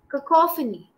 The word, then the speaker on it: cacophony: So it's cacophony.